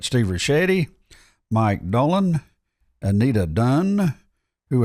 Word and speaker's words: Ricchetti: Ricchetti, that's right. Steve Ricchetti, Mike Dolan, Anita Dunn, who effectively controlled the presidency Wow.